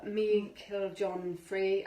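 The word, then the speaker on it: Meiklejohn-Free: really nice cards they're by Barbara are kind pronounced Barbara meaning killed John free and Flavia K Peters who is a very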